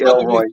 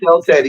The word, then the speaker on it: El Teddy: talking let me finish y'all call me Elroy my name is El Teddy it's very easy to pronounce no no no you're